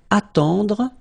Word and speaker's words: attendre: Then, attendre. Attendre. Remember, final you don't insist on it, it just gives you the possibility to pronounce the dr, dr.